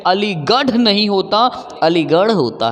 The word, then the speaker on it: अलीगढ़: अदा पढ़ना है क्योंकि इसकी अंग्रेजी जो होती है आर ए हा होती है और इसकी इंग्लिश दी हा होती है दी हा से द होता और आर ए हा से बड़ा होता है जैसे मैंने कहा अलीगढ़ मैंने कहा अलीगढ़ गौर से देखना मैंने कहा अलीगढ़ इसकी स्पेलिंग अगर मैं लिखूं इंग्लिश में तो ऐसे लिखना है जी ए आर हा ना की अगर आप